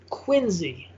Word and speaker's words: Quincy: no that's that's how you pronounce it everybody pronounces it wrong and it's quincy did you know that i i did not